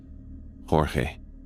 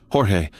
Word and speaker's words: Jorge: The slight gravel, the particular way he pronounced my name with the emphasis on the first syllable.